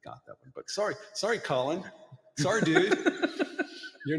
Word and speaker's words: Colleen: It was Micah McKinnon of Utah took out Colleen Cole of California for amateur singles. And amateur doubles. That's Collen Cole, by the way, just in case he hears this.